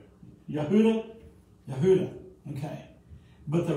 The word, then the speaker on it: Yehuda: In fact, the name Judah, if I'm saying it right, is Yehuda. Did I say it right? Yehuda.